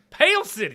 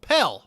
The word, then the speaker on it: Pell: from pell city alabama pale city pale city no pell pelt like a pell grant i want to make